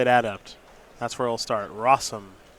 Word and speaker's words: Rosum: Rosum. Did you know it rhymes with awesome?